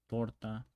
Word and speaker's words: torta: Tip is very explosive, and in Spanish it's not as explosive. And you place the tongue on the back of your front teeth. Torta, talento, tesoro.